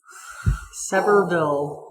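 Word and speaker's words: Sevierville: her town right sville severville not sville s basically just assume if you're anywhere around the South it's not B it's v v yep to the locals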